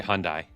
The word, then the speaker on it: Hyundai: properly pronounce the word Hyandai what H so like Monday Tuesday Wednesday Thursday Friday Saturday Sunday H it's the eighth